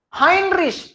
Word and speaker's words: Heinrich: Heinrich, why high? Because E-I is I. Hein. Rish against sh, not kh.